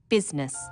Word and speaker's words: business: o u g words business people don't pronounce the I business sometimes misspellings occur because